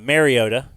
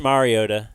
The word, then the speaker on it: Mariota: telling you everybody's great he kept saying uh marota which it's not a big deal but it is pronounced Mariota and everybody else gets it right so um